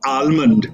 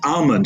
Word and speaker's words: almond: much clearer for example it's not almond it's almond the L is silent it's not pizza it's